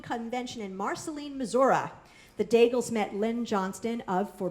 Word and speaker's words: Daigles: And now, without further ado, it gives me great pleasure to welcome our friends Matt and Kay Daigles, which rhymes with bagel.